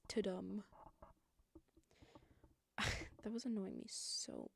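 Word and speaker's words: Tudum: Tadoom. Okay, you weirdos with your weird California accent, it's toadum.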